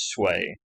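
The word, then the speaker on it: Sui: That's how you pronounce that, is Sway.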